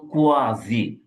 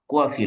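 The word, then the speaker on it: quasi: দেখবেন যে এক ধরনের প্যাসিভ আছে, দেন এটার উচ্চারণ হলো কোয়াজি বা খুয়েজাই, খুয়েজাই বা কোয়াজি, কোয়াসি না কিন্তু, হ্যাঁ।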